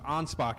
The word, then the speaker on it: Anspach: David Anspach, I got his Anspach is the pronunciation.